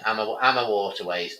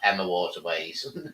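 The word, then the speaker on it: AmaWaterways: Mike says Emma, not Emma. Yeah, Amma Waterways, Amma Waterways, not Emma Waterways.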